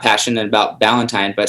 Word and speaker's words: Ballantine: And just so, Morning Upgrade's pretty easy, but Ballantine, it's spelt like Valentine, like Valentine's Day, correct? But it's just with a B in the beginning. Well, it sounds like that. It's actually spelled like the beer.